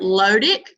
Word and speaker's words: lotic: All right, for me, when I say it lotic, flow, low, flow, kind of rhymes. I think technically it's lotic, but I kind of pronounce that longer O because it helps me remember that floating or flowing, lotic, flowing.